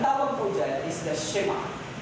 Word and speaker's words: Shema: Ang tawag po dyan is the Shema. Actually, ang pronunciation niya ay Shema.